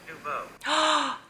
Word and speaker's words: Nouveau: Nouveau.